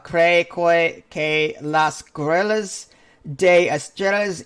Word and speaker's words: Estrella: In the Spanish language, 2 L's is a J. Estrella.